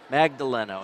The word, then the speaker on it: Magdaleno: Magdaleno is how you say it.